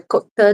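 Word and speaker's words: cote: This is called a cot c o t e or a ka depending on which part of France you're from and whether those final letters actually still are getting pronounced in the 15th century. For the most part, they are.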